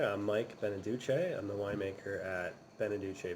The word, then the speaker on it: Beneduce: Mike Beneduce? Mike Beneduki? Mike Beneducky. Seth, that is my husband you're talking about. It's Mike Beneduce.